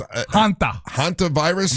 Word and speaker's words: hantavirus: Hantavirus.